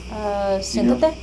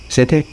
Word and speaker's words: Siéntate: Siéntate. Sete?